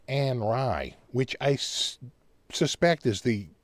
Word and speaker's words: Henri: Turns out, when we spell the name the way we spell it, they pronounce it Anri, which I suspect is the proper way to pronounce the name.